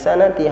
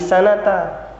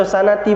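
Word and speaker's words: السنة: Bukan hadhihi sanati, hadhihi sanata. Bukan hadhihi sanati, hadhihi sanata. Iya. Boleh dibaca sanati boleh.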